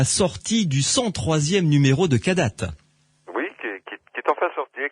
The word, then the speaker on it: Kadath: Et pour se la procurer, eh bien, il suffit d'aller sur le site internet cadat.be pour la commander en ligne, tout simplement. Cadat, ça s'écrit K-A-D-A-T-H.